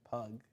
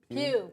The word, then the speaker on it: Pugh: together, which apparently put a feud on Florence Pugh. Is that how you say it? Pew.